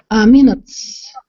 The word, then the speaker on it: minutes: Minutes. Minutes. Very good. Very Yes. clear. Okay, that was very clear. The T, is uncountable, so she pronounced the S as an S.